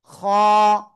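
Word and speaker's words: خ: খ। খ, গলার শেষ ভাগ থেকে মোটা আওয়াজে উচ্চারণ করতে হবে।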